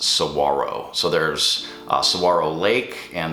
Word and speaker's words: saguaro: It's S-A-G-U-A-R-O, but it's pronounced saguaro.